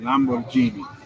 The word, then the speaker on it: Lamborghini: Prior to founding his own company, Pagani worked for Renault and Lamborghini. Correct pronunciation, Lamborghini.